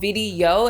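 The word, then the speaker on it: Vidyo: And that is a tool called video, and it's spelled kind of strangely, it's V I D Y O.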